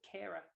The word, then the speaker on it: Ciara: And I think because the amazing R&B singer Ciara also spells her name, but no, the Irish pronunciation is just Kira.